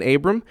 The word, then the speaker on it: Abram: often do you get Abrams with the S like all the time all the time so yeah so but it is Abram without the S if you see him